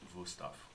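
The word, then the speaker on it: Wüsthof: That- Wustoff. So you're recommending them for the ease with which they cut your flesh? Cut anything. Oh, okay. Yeah, And it would actually be pronounced Wusthoff.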